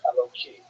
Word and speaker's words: Eloki: And so when you're not pronouncing it in the context of prayer, you would say it with a hey instead of a kuf and Eloki.